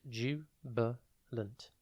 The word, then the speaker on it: jubilant: It is pronounced jubilant, and it is spelt Jubilant. Think jub, then ill, and then ant.